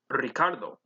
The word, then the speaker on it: Ricardo: vamos a la playa there is an r in the initial position so you would roll the r in ricardo the second time when